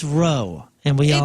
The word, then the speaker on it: Rowe: It's Rowe, and we all It's know Rowe. that. Dustin Rowe. No, it's another guy. His last name is spelled Rowe. I know. R-O-W. It's Row.